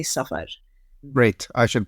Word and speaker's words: Safar: I'm going to say Safar. Great. I should pronounce it the same way.